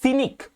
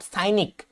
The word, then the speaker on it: cynic: Next number 23, সিনিক, নট সাইনিক, CYNIC কিন্তু সাইনিক নয়, খেয়াল রাখবে উচ্চারণটা কি, সিনিক।